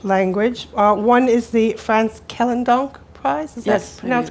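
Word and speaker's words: Frans Kellendonk: number of prizes some of which I can't pronounce because I'm ignorant of the Dutch language or one is the France kellan donk prize yes that's correctly and something called the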